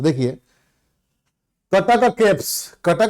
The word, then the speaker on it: कटक: नहीं है ध्यान रखिएगा नॉन ओरियन वाले उसको सटक सटक के हिसाब से प्रोनाउंस करते हैं दिस इज नॉट सटक दिस इज कटक कटक क क का उच्चारण होगा ठीक है तो ट